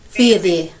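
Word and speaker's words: φίδι: If you say Fide, it's not the same as Fidi.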